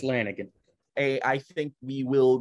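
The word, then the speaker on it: Lanegan: up I don't want I don't know how to pronounce his name that's what I said it's just it's just Lanigan hey I think we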